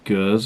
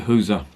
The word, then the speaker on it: Gueuze: of lambic as these girls or who's I'm gonna call it Hooser because I prefer the Flemish pronunciation you can call it